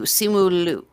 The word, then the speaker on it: Simu Liu: but his name is Simu Liu, I believe, if that's how you pronounce it. Grandmaster, is that right? Simu Liu. Okay. Yeah, it's an oo at the end, not a u. Simu Liu, right?